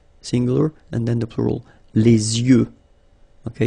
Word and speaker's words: yeux: Okay, so l'œil, singular, and then the plural, Les yeux. Okay, you make this liaison between the two. Les yeux. Okay, final X not pronounced.